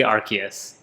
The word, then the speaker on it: Arceus: praise rcs was or however you'd like to pronounce it i don't know there's like yes tomato tomato it's canonically arceus okay but it's also stupid it's the shinto